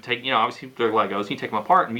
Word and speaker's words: Lego: what I liked about Legos was you got or Lego I always say it wrong I always put an S on it and I think Lego is both singular and plural but you just have